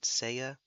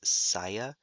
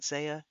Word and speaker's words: Seiya: Dragonlord was going on about Saint Seiya, which I keep wanting to pronounce as Saya. It's not.